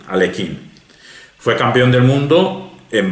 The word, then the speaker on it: Alekhine: Nos vamos a quien le ganó en el año 27, Alexander Alekhine, como se pronuncia, Alekhine.